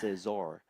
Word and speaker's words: Seelder: Let's How to pronounce Seelder? Oh, Sel, thank you. Seelder. This is how you pronounce Thank you. Seelder.